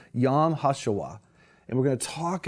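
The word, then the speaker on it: Yom HaShoah: focus on the Holocaust Remembrance Day it's actually pronounced yam hasuwa and we're going to talk about how important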